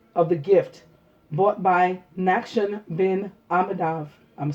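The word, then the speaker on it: Nachshon: today we read of the gift bought by Nakshan bin Amadav. I'mma spell that for you.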